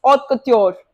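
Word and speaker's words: haute couture: Okay, next ऑथ कत्योर, यही pronunciation इसका।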